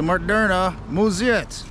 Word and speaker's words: Moderna Museet: on an adventure to murderna muziet that's how you say it in swedish i think um so speaking